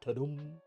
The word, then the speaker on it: Tudum: I think it's pronounced Tudum, like the sound effect.